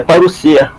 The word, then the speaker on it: parousia: Só a pronúncia aqui é parousia. Perfeito. Essa parte aí, a gente só balança a cabeça, né? Porque o S tem som de S mesmo, no grego.